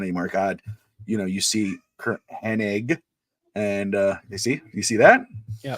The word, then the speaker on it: Hennig: I go, "It's wrong. It's Kurt Hennig."